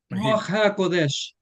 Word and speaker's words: Ruach HaKodesh: In Hebrew, it is Rosh al-Qudus, I think. Ruach HaKodesh. Thank you. Somebody who can actually pronounce it.